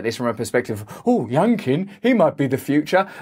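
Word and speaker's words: Youngkin: from a perspective oh young king he might be the future the only thing i can think of is his name rhymes with pumpkin in a state where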